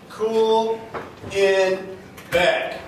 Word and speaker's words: Kuhlenbeck: go back cooling Beck it's very easy game cool in back it's a very rare name you can Google